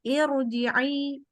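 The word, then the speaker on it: ارجعي: Maka ini ya contohnya irji'i padahal hamzah wasol ya di depan. Karena irji'i ji bakal hamzah wasolnya dibaca kasroh, tapi tetap walaupun bacanya i, ro-nya karena di depannya hamzah wasol dibaca tebal. Bukan ir.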